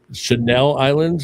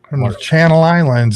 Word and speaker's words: Channel Islands: How do you say that? Is that the Chanel Islands or Channel Islands? What is that? Channel Islands.